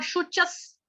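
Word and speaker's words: शुचः: मां शुचस, शुच, श श के साथ छोटा उ, शु, उसके बाद च, चम्मच वाला, विसर्ग का उच्चारण होगा हलंत स, आधा स।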